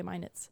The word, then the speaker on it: Minot: wrong but every video I've watched they say Minit and that includes Jeremy a video that Jeremy